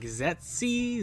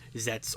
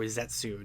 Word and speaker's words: Zeztz: when you see Z ZZ you're probably like zety zety you know something like that but from my buddy Matt and what the Kan Katakana says and everything or the kanji it's pronounced zets or zetsu now that sort of gives us kind of